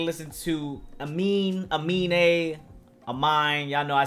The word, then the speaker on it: Aminé: to take a listen to amin amin a a mine y'all know i say it differently uh but it is pronounced mean a that's the correct pronunciation um he has a